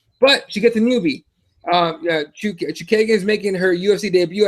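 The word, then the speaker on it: Chookagian: Lucky Lauren Murphy against Caitlin Blonde Fighter Chukagan.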